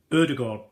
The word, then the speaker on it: Ødegaard: Ødegaard.